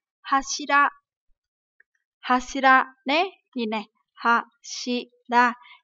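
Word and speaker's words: 柱: À, từ trụ này thì chúng ta có cái chữ cột trong nhà ấy, thì chúng ta sẽ đọc là hashira.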